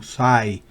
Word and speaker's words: sigh: El verbo to sigh, fíjense que no se pronuncia ni la E, ni la G, ni la H.